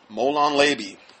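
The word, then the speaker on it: molon labe: talk about that yeah come and take it molan leby that's how you say it anyway according to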